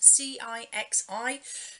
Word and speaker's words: Cixi: You've got the Dowager Empress Cixi, I think it's pronounced, Cixi, who was the empress who banished foot binding in China on young women.